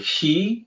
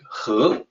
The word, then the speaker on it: 和: character there huh uh the pinion looks like he is spelled exactly that the word he but in the pinion system it is supposed to sound like huh and yes it is a little confusing uh but that's how that's how the system